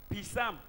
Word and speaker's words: psalm: The P there is silent. Okay, the P being silent. Yeah, that is why they pronounce it psalms.